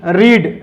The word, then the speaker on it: read: Third form भी READ, लेकिन यहां इसका प्रोनाउंसिएशन होगा रेड, यहां भी रेड और इसे इसकी फोर्थ फॉर्म होती है रीडिंग।